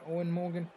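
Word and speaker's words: Eoin Morgan: Yeah, I know Morgan's first name looks different, but in an interview he said just say it like Owen Morgan. Yeah, Owen Morgan.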